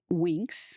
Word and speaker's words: Winx: So Winx, Okay.